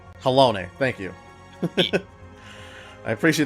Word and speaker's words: Halone: Pronounced Halone. Halone, thank you.